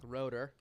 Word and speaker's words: Rotor: Rotor. There we go. Rotor, that's how you say it? Mm-hmm. Oh, I was saying Raider.